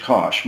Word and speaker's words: Kosch: I would go with I always go with Kosh my name is spelled kose I take nobody is